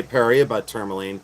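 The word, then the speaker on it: Paraíba tourmaline: I say paria turmoline but that's the way I pronounce it.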